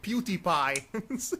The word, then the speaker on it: PewDiePie: oh I you know the way you said it sound like PewDiePie that's actually how it's pronounced what yeah I don't